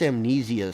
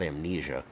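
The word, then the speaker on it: AmneziaVPN: That's Amnesia spelled with a Z, not an S. So, it's not amnesia, it's amnesia.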